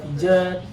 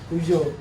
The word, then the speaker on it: Peugeot: Karena banyak orang bingung nyebutin nama brandnya atau punya pengucapan sendiri lah. Yang pertama ada Pijet, yang kedua T-shirt, yang ketiga Peugeot. Oke.